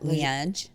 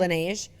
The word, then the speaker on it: Laneige: How do you pronounce that? Laneige. Laneige. Laneige. Is that how you say it? Laneige.